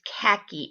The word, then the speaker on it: khaki: Okay, the word is khaki. It does sound like there's an H in there, but you have to